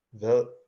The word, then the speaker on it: hvad: Hvad? Ervin, the D is silent, right?